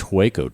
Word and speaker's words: Hueco: Andrew, you knew about these Hueco tanks. How do you say that? Hueco tanks in El Paso? Waco tanks, yeah.